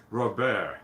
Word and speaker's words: Robert: French, Robert, they keep the T silent.